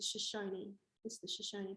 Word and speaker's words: Shoshone: tell me that there was shush something. I knew there was 3 syllables, and you know, anyway, I looked into it, and it's the Shoshone people.